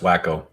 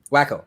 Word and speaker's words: Waco: will uh silverman's right it's pronounced wacko wacko yes i've called it